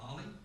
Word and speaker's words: OLLI: appreciate Southwest Collection and, as we call it, Ollie. Is that right, Emma? I was trying to pronounce the Osher Lifelong Learning Institute over in Oregon, so I didn't mess up, but you said Ollie, and that helps out a lot.